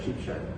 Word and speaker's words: Sheepshead: town that we're in, whether it's Sheepshead or Sheepshed. Yeah, I remember you asked me that as well. More people say Sheepshed than Sheepshead. And like I guess I'm saying it wrong.